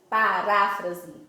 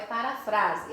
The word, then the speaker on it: paráfrase: Paráfrase. Não é parafrase, é paráfrase, certo?